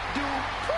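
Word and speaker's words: Maxxine Dupri: Here comes the talented Maxine Dupree. Michael, it's pronounced Dupree.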